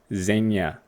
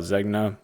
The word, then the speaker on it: Zegna: Next we have a Nua Tags Ermene Gildo Zegna. I like to call it Zegna, but it's pronounced Zegna.